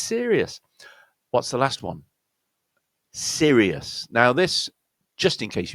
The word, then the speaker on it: Sirius: Sirius. Now this, just in case you didn't know, is the brightest star in the heavens, in visible from planet Earth. The brightest star is called Sirius.